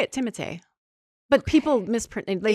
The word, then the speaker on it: Timothée: Timothée, yeah.